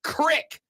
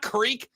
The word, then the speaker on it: creek: Texter says, Rob, first, it's pronounced crick, not creek.